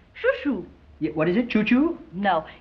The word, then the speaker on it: Chou-Chou: Yeah, what is it, Chou-Chou? No, it's spelled C-H-O-U, C-H-O-U.